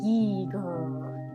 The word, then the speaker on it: Giger: be the work of one hr gear pronounced geeger the swedish surrealist painter